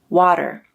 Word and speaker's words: water: Americans use a flap in the word water, but British people use a true T.